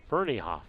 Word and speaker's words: Fernahoff: I think that's how Fernahoff. Okay, I mispronounced that at the beginning. Then I apologize. Fernahoff.